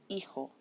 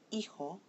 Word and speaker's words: hijo: So when I say this word, hijo, I put it in bold, but I underline it.